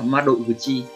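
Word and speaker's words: 窓口: Cách đọc của nó là ma đội vừa chi, ma đội vừa chi.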